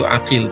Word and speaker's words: Aqil: menugaskan Muslim bin Uqail, tapi saya bacanya itu Aqil, tapi di beberapa tempat ditulisnya Uqail, ya.